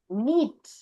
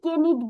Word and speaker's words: knit: আমি দেখো উচ্চারণ কি করছি, নিট। আমি কিন্তু কে নিট বলতেছি না, আমি সরাসরি নিট বলতেছি।